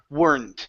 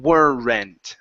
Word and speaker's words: weren't: word it's were not so it's weren't instead of changing it completely and saying were rent so we're not adding